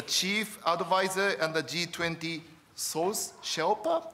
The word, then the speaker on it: Sous-Sherpa: Jason McDonald, the chief advisor and the G20 Source Shelpa, am I pronouncing correctly? Yeah, Sue Shelpa. It's a Sue Shelpa.